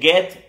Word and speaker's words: Goethe: Se dice Goethe, se escribe Goethe.